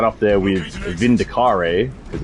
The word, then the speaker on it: Vindicare: right up there with Vindicare, because it is not Vindicare assassins. Assassins do not care about you. It is a care.